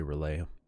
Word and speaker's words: R'lyeh: of R'lyeh relay relay relay everybody pronounces it differently I say relay file this key that